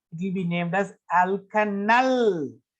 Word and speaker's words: alkanal: will be named as alkanal. Alkanol, it's not alkanol, it's alkanal. We have to pronounce it null.